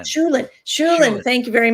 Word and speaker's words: Shulin: Is that how you pronounce Shulin, her name? Shulin, Shulin.